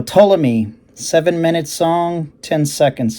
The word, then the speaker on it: Ptolemy: song off the album ptolemy which the p is silent i would say so ptolemy seven minutes long ten